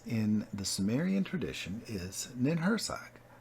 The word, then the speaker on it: Ninhursag: the surian tradition is ninag pronunciation varies or nma in myth she is